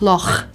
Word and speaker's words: loch: 像這樣發音出來，「loch」 And roll it like 'loch'.